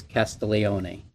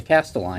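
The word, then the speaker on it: Castiglione: Correct pronunciation in Italian is Castile, where the G is silent. Okay. But when my grandfather came over to America, he had to Americanize it. So then they changed it to castaline.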